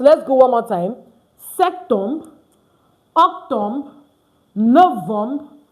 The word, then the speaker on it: septembre: You see S-E-T you pronounce. Don't pronounce the P.